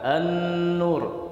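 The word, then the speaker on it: النور: lam yang setelahnya Nun seperti kalimat an-nur tulisannya al-nur ya Gan Tapi kita baca endur ini yang boleh Hai tapi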